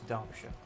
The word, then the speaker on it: Derbyshire: It's Derbyshire. So I pronounced it when I moved here.